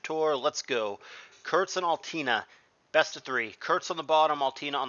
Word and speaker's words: Altina: it it is kurtz and altina i mean altana is the way that i always pronounce that but i know the character uh